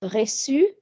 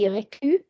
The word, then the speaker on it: reçu: So for example, the past participle of recevoir is reçu. So normally that would be reçu because of the U. As I said, the U would have taken the hard cat sound.